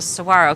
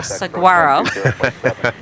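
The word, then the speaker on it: saguaro: He's a sarro cactus, not a saguarro.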